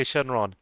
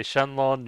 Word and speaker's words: Shenron: I It's like tomato tomato. How How about that? You can say Shenlon, you can say Shenron.